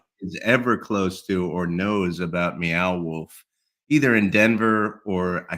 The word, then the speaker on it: Meow Wolf: beow wolf it's not it's not mayow wolf it's it's meow wolf I think it's meow